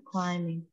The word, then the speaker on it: climbing: Mount climbing. Miss, kenapa bukan climbing? Itu B-nya dikemanain, Miss. B-nya udah ditulis. B di sini, B-nya silent B. B yang tidak dibaca.